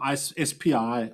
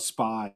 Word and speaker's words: SPI: The radio here is running SPI or SPI, depending on how you pronounce it.